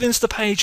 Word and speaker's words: Instapage: all about insta page I've been calling them insta Pages for quite a while I don't know why I just just uh got the name wrong but it's insta page okay and if you